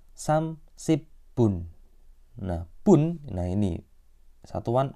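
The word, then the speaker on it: 삼십분: kan menit kan Nah untuk pengucapan menit itu pakainya angka Sino Korea angka Sino Korea itu seperti Il I Samsa o sedangkan yang untuk pengucapan jam itu pakai angka asli Korea nah 30 bahasa Koreanya samsibun nah Bun nah ini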